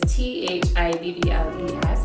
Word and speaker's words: Theobalds: It's Theobalds. Like, what I usually tell people is Thibbals is how I would pronounce it, even though it's spelled Theobalds.